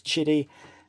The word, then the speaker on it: Qidi: ordering it direct from, I'm calling it Qidi, but it's Chidi.